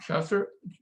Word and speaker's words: Schuster: Dean Schuster.